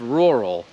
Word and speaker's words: rural: jest sł i właśnie to a w rural się wymawia jako sł ale najlepszy sposób jak mogę to wytłumaczyć jest że możesz udawać że tam nie ma a że to jest po prostu r i potem r to